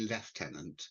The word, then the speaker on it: Lieutenant: I'll correct your pronunciation, so it's Deputy Lieutenant.